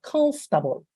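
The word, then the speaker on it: comfortable: como en español no Pues confortable listo ganó bien está nada parecida la pronunciación de esta amiga Sería constable nada que ver No es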